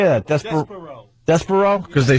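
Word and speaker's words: Despereaux: desper how do you say that Des deso despero cuz they spell d e s p r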